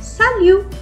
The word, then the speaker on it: salut: would say it as salute s a l u t is the word but we are not going to pronounce the T at the last I would say salute what if I want